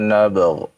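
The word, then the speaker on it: نبغ: Ya, dibacanya ya dengan qalqalah pada huruf ba. Ya. Dzalika ma kunna nabgh ya.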